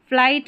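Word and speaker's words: flight: फ्लाइट में देखें यहां पर एफ एल आई जी एच टी यह कॉम्बिनेशन रहता है। तो यहां पर भी जी एच साइलेंट है।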